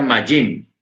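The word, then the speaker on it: מים: Ojo, la palabra agua en hebreo se pronuncia majim.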